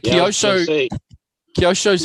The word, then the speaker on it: Kyosho: And then they say Kyosho. Kyosho. Tamiya. Not Tamaya. Tamiya. Tony's And playing with his Kyosho. pussy. And Kyosho's very quick on the K. So it's Kyosho.